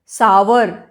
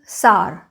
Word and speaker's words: sour: This is सार, सावर नहीं बोलना चाहिए इसका, that is a very old fashioned या नॉन एजुकेटेड वाला प्रोनाउंसिएशन है।